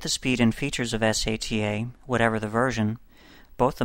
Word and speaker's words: SATA: hard drive controller is called Serial ATA or SATA sometimes pronounced SATA a SATA controller speed